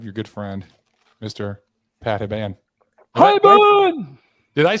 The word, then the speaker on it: Hiban: Pat Hiban. Hiban! Did I pronounce that? Is it pronounced correctly, Pat Hiban? No, it's Hiban.